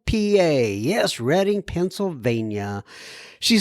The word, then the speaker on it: Reading: G I am from Reading PA yes Reading Pennsylvania she says uh by the way you know I always wanted to pronounce her reading but I know it's reading and I'm sure people